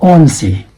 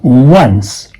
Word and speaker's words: once: This is on, but this is not on-see. No, this is once.